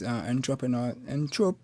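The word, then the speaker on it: entrepôt: So yeah, well, the French will say po, but they don't pronounce the T.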